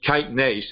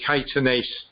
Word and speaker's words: kinase: can't pronounce it but it's not actually kitenase it's caitanese and the the first